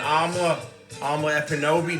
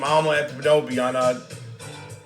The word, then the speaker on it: Amala Ekpunobi: And Amala Ekpunobi, the K is silent. She's got a show, Unapologetic. You just type her name, Amala Ekpunobi, on YouTube.